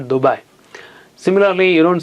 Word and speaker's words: Dubai: Arabic, words that where you pronounce it softly, like Dubai, fly, lie, right, and so on. You don't say Dubai. Maybe you will go to some other place if you say Dubai. It's Dubai, it's not Dubai.